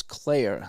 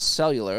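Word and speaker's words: Cuellar: that's how you say his name c-u-e-l-l-a-r is Claire he's gonna say so so it's not cellular it's not sellers um boy I'm having a heck of a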